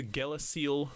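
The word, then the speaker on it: Gele Ciel: would be the the so it's it's spelt g-e-l-e space c-i-e-l and it's pronounced the galaxy ranges it's like a ver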